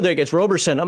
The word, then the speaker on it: Roberson: well sure yeah my name is Sean Owen Roberson each one of those words is spelled a little differently than people would expect